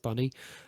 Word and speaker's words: Bynni: I'm probably gonna have to say Bunny, but it's spelt with like a BYNNI. So like Binny, but it's pronounced Bunny.